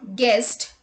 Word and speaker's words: guest: U is not pronounced when it comes after G and before a vowel. Let's look at the examples. Guess, guidance, guitar, guest, guild, guard, etc.